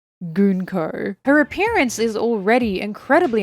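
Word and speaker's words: Gunko: and we're introduced to gonko yes apparently that is how you say her name gonko her appearance is already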